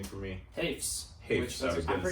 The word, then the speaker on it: Hoefs: Hoefs.